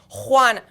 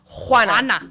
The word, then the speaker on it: Juana: Like I butchered Moana? it. I apologize. Or- No, Juana. Juana.